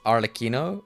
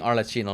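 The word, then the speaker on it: Arlecchino: Anyways, it's pronounced Arleino. Oh, really? Damn. I've been saying Arcino like all this time from like way long ago.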